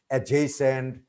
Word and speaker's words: adjacent: And here, one thing we can tell our students that before J, D is not pronounced. For example, adjective, adjacent, adjourn, adjustment. Thank you.